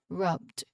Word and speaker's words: rubbed: Again, is almost like a T sound. Rubbed.